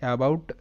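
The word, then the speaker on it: about: Next শব্দটা এ বি ও ইউটি, এটার উচ্চারণটা হবে অ্যাবাউট।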